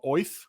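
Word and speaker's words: Oerth: I'm tempted to put it to uncommon because I recently learned that instead of Orth, the name of the actual world, it's pronounced as if you have a Brooklyn accent, and it's called Oith.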